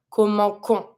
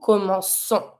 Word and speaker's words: commençons: If we don't, we're going to pronounce the verb comment qu'on, because C plus O makes the sound K. And the verb is commencer. So if you want to be able to pronounce the C like a S, we need to put the little CD. Every time it's going to be C plus O. So nous commençons. So that the verb is pronounced correctly.